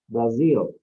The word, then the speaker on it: Brazil: In English, we pronounce Brazil with Z, Brazil.